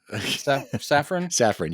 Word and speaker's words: Safran: But having one central person, and I'm leaving Sarah, how do you pronounce his last name? Who? His partner, Peter. Oh, Peter's Safran? Safran, yeah, Safran.